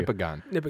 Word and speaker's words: Nipigon: nion okay thank you Nippon it's like Michigan but nipples so this is the